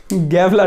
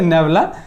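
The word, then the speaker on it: nabla: বল আচ্ছা এর উচ্চারণটা কি হবে দেখো এর উচ্চারণটা হবে এটাকে কি বলা হবে বলব মানে চিহ্নটার নাম নেবলা গ্যাবলা না নেব নেবলা চিহ্নটার নাম হচ্ছে নেবলা আর এটা হবে গ্রড উচ্চারণটা হবে কি বল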